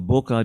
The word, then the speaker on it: bokeh: be able to walk away with a great bokeh or bokeh, depending upon how you pronounce it.